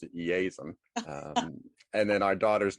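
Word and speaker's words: Iason: it as a derivative of jason which is eisen i-a-s-o-n it's the greek form of of jason just fun fact i think they pronounced it easem and then our daughter's name is saffron oh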